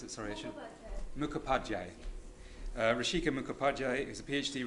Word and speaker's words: Mukhopadhyay: I'm pleased now to invite to the podium Rishika Mukab. Yeah, it's a long one. Can you tell me how to pronounce it? Sorry, I should. Mukhopadhyay.